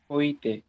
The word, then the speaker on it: হইতে: হটা কেন করলা হটা করলাম কারণ হল হ এর পরে মানে এর পরে ই আছে তাহলে ই থাকার কারণে থ এর সাথে যে অটা আছে ওটা ওকারন্ত হয়ে গেল মানে ওকার যুক্ত হয়ে গেল এইজন্য উচ্চারণটা হইতে হল বুঝতে পারছি এই